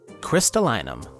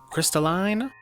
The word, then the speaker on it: crystallinum: crystallinum the thing is Botanical Latin doesn't have a correct pronunciation per se since it's only utilized to differentiate and organize different plant species so it really depends on how you pronounce this word crystalline or crystallin and can you tell